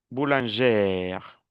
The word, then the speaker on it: boulangère: Exemple, boulanger, cuando termina en R, no pronuncio la R. Boulanger, boulangère. Le féminin, oui, je prononce le R.